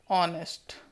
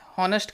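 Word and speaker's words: honest: तो देखिए दोस्तों, यहाँ पे ऑनेस्ट उच्चारण हो रहा है, एच से ये शुरू तो हो रहा है।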